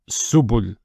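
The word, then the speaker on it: سُبُل: Then the ba with the dhamma, it's bu. And then we have the lam. And we assume that the lam is a glottal stop, a sukoon. It will be pronounced as subul. Subul. This is a plural, actually, of a word that means a path.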